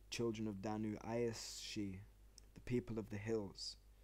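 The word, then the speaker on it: sídhe: driven underground into the hills which were called savee which is pronounced she so I that up already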